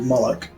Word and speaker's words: Moloch: the other one is called molok which rhymes with bollock brilliant is that on